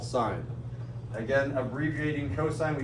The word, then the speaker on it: sine: don't typically call this sine. We usually abbreviate this S-I-N. If you read this as sin, then you're saying it wrong. This is called sine.